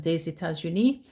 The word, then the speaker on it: des États-Unis: The S becomes like a Z, des États-Unis.